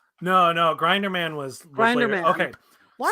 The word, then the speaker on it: Grinderman: Grenderman? No, Grinderman was later. Grinderman. Okay. Why So the fuck here's did you pronounce it wrong?